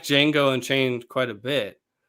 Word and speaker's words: Django: he does he knows django and it's the part where the guy asks him ask django if he knows how to spell his name and he goes d-j-a-n-g-o the j is silent and then franco goes